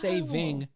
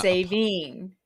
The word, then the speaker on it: saving: And it is saving singular. That's the formal way to say it. It's not saving.